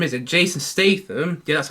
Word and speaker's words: Statham: found it okay and now sequence evolving Jason safeman is that that's how I pronounced his name is it Jason Statham yeah that's how I pronounce his name uh